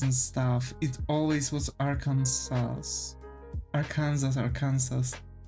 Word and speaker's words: Arkansas: like different media where the name was pronounced Arkansas, not Arkansas. So I've learned that the pronunciation is like that, and so it's like when the person was pronouncing all these states and they said Arkansas, I was like dumbfounded, like what? especially American, yeah. Why would you pronounce it in the French way?